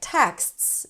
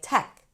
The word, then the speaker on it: texts: So a word like texts might end up sounding like tech.